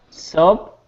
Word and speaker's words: soap: Okay, so soup is soup. The food. It sounds like that, soup. And then soap, Soup. it sounds like so. I guess it's got a long O. Soap.